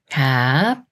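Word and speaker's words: 값: 합해서 밥 밥 밥 비읍 시옷 겹받침이 있는 글자도 겹받침 위에 있는 부분을 먼저 읽어요 그 아가가 여기에 시옷 소리는 빼고 비읍 받침 수리인 음만 합해서 갑 갑 갑 이렇게 비읍이라 글자 역시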